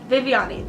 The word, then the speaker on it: Viviani: when they read it because it is spelt like Vivian yeah so Viviani that type of you